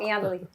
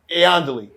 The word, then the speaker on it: Iandoli: So Did I say her last name right? Yeah, you said it wrong. Iandoli. Iandoli.